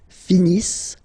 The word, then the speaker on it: finissent: Ils finissent. So remember, as usual, when we've got the verbs ENT not pronounced. Ils finissent.